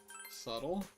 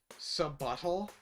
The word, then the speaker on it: subtle: Subtle? Do you think the word subtle is pronounced subuttle?